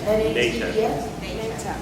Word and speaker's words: NATEF: And I butchered that acronym, how you say it? N-A-T-E-F?